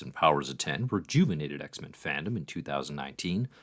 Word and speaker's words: Powers of X: of 12 but unfortunately the X offices insistence that powers of X is pronounced powers of 10 and X of Swords